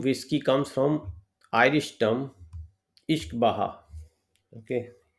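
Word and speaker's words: uisce beatha: The name whiskey comes from Irish term Ishkbaha. Okay, don't look at the spelling but the pronunciation is इश्क बहा, इसीलिए मैंने इसको हिंदी में लिखा है, which means water of life.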